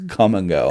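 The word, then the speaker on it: Kum & Go: But the sign is literally spelled with a K, so it's Come and Go.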